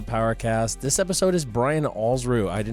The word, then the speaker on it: Alsruhe: you were just to think of it as rhyming with balls blue, you would get it every time.